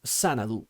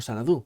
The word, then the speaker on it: Xanadu: ese título en concreto que es sanadu o sanadú como queráis pronunciarlo descontando las aventurillas que